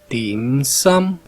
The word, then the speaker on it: dim sum: El dim sum, que por cierto, su pronunciación correcta es dim sum, pronunciación cantonesa.